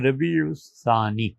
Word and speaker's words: ربیع الثانی: مہینہ ربیع الثانی ہے۔ اس ثانی کو سا سے پڑھنا چاہیے اور اس کا تلفظ زبان کی نوک سے کیا جاتا ہے سا۔ ربیع الثانی سین سے پڑھنا، صاد سے پڑھنا یہ درست نہیں ہے، تو ربیع الثانی۔ پانچواں مہینہ جمادی الاولی